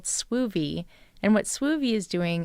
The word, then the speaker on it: Swoovy: Oh, it's spelled like groovy, but Suivi.